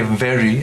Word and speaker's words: very: say adverb et cetera i had a teacher who said bite your v's and kiss your w's so it was interesting you're putting it so you know use your upper teeth on your lower lip and say very and that's right and then make the